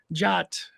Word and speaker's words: JWT: I'll give them like JWT what how do you pronounce this and it'll be like jot and they'll say it completely wrong because no one ever says it right um and a bunch